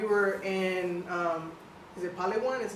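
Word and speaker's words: Palawan: weeks ago we were in um is it Palwan? Is how you say Palan? Yeah, we were is it Paloan?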